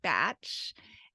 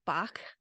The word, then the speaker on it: Bach: wrong Bach so um what I've heard is that uh you know that it's supposed to be batch and Julian Barnard this is Bach or Bach and he and what he says is that um in that time around the first world war it was very unpopular to have a German sounding name and so that might be why the pronunciation went to batch um but he uses